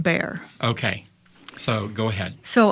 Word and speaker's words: Bexar: It's spelled Bexar, but it's pronounced Bear.